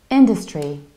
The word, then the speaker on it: industry: we need to say industry industry so you stress the very first syllable industry so here I don't say dust like dust but I reduce this syllable so I say in this tree and in the